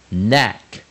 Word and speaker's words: knack: hack hack，首音 j jack jack，首音 kn knack knack。当然我们知道 k 加 n 的时候 k 是不发音的，所以就念 knack knack，首音 l lack lackSo in P, back, pack.